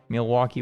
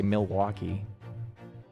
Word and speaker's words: Milwaukee: There's no L in Milwaukee. There's not? There's not when Is it just Milwaukee? It's not when you say it. Milwaukee, you spell it. Milwaukee, Wisconsin. No, you spell it that way, but when you say it, you don't say it.